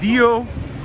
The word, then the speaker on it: Diogenes: So Cynthia says it's Diogenes. Diogenes.